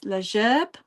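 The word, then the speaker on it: La Gerbe: So, this piece here is called uh I'm going to try and pronounce it in French, leerb, which basically means the sheath um or a bouquet.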